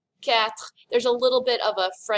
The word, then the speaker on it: quatre: This word has a lot of letters in it, but it really ends up sounding like the word cat. Quatre. Quatre.